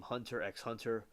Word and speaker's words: Hunter x Hunter: The X in the title is silent, with the previous series Yu Yu Hak Yusho.